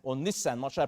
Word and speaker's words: Nisan: Esther chapter 3 verse number 7 says in the first month that is the month Nisan or Nissan should I pronounce it? Nisan.